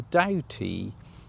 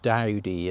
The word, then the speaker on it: Doughty: changed his name to Doughty. It was actually left by the Doughty family, or Dowdy it's actually pronounced, but they didn't have a male heir, so they wanted to continue the family's name.